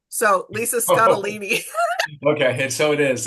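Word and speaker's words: Scottoline: She says it rhymes with weenie. So, Lisa Scottini.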